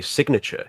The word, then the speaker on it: signature: Anyone notice that when you say sign, you leave out the N, but when you say signature, you pronounce the G?